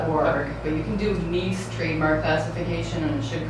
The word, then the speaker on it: Nice: But you can do NICE trademark classification and it should come up. Okay. So Nice, France, so it's not spelled like nice. So it's NEICE or something?